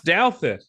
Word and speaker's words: Douthat: Douthit? Ross Douthat.